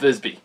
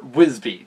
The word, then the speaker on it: Visby: that, and as well, the Battle of Visby, or Wisby, depending on how you pronounce it and your cultural region.